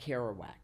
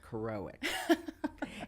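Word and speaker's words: Kerouac: she refers to Jack Carowak. Yeah. And when actors would come in to read, many of them mispronounced Jack Carowak and said Jack Caroic.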